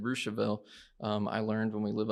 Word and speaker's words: Russiaville: live in russiaville indiana it looks like russiaville to you but we pronounced it rousseville i learned when we